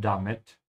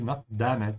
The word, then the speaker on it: damit: Make sure to pronounce it correctly, not damit, yeah, this is not English.